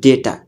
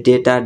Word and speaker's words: data: र आज हाम्रो first topic रहेको छ डेटा। कसैले चाहिँ डाटा पनि भनेर उच्चारण गर्छन् है डेटा डाटा। यसको सही उच्चारण भनेको डेटा हो।